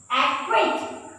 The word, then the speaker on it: acquaint: And the last situation where C is not pronounced is when C is before Q. C is before Q. When, for example, aqua, aqua, C is not pronounced here. Acquaint, C is not pronounced here.